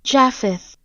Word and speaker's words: Japheth: But after that, we meet probably the best character in the movie, Jeppeth? One second. Japheth. Oh, that is how you pronounce it.